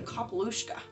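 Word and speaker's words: capall uisce: of the Sea called the kapalushka the pronunciation that she says it's the correct pronunciation and the thing is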